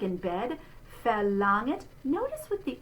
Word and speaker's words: verlangt: So we're going to say that beginning letter V in the spelling like an F. And this is our open E, the E sound like in bed. Verlangt.